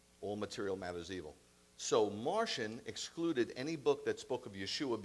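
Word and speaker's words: Marcion: in 140 ad okay sadly enough it's pronounced Martian and you'll find out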